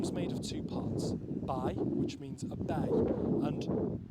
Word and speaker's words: Bae: made of two parts B which means a bay and because it was borrowed from Middle English which pronounced B like by it said B in Welsh and then we have